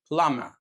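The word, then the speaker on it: plumber: اللي هو البي الخفيفه ويجي قبله ام ما بنطقش البي زي مثلا ضم ضم يعني غبي وكلايم يعني اتسلق كلايم وبلامر بلامر يعني سباج تاني قاعده معانا هي الكي ان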